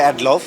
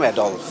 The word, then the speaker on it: Adolf: অ্যাডলফ, হ্যাঁ, অনেকেই উচ্চারণটা করে প্রনাউন্স করে অ্যাডলফ, কিন্তু আসলে অ্যাকচুয়ালি আমার নাম অ্যাডলফ।